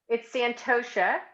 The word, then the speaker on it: Santosha: Oh, it's Santosha.